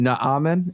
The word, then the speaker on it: Naaman: but uh i i i've been saying it ahmed but now i hear you guys saying naaman so i'm thinking maybe that's might be the better way of saying it so but once